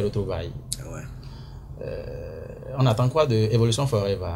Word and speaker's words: Evolution Forever: C'est pas Forever, c'est Forever. Bon, Forever, parce que pour nous qui avons fait un peu Nigeria, c'est comme ça on prononce les trucs, hein, mais c'est Evolution Forever, la prononciation exacte. Ça peut aller, hein, Evolution Forever. Voilà, c'est la prononciation exacte en anglais.